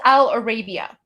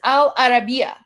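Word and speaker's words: Al Arabiya: So this is Al Arabia. Oh, sorry. Al sorry I mispronounced it. It's Al Arabia.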